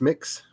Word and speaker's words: Mx: sure then not non-binary it's mr miss and mix is mx is the commonly used non-binary term and i actually like it pronounced mix i like that so